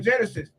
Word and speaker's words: Gynesis: up man I'm saying just like genesis it's spelled g y n e s i if anybody want